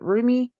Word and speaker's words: Rumi: I always mispronounce his name. I believe it's Rummy. I've heard people pronounce it Rumi and Rummy. I pronounce it Rummy.